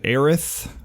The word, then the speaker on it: Aerith: All right, so I'm here with Aaron Green of melodic death metal band Aerith. I'm pronouncing that correct, right?